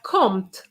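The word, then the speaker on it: compte: this morning i heard compt be careful the p of count is silent so you have to use the t and o m o n is the same sound so guys what do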